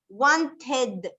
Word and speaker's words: wanted: O sea que, por ejemplo, si tenemos wanted, vamos a pronunciar la E como si fuese I y vamos a pronunciar la D.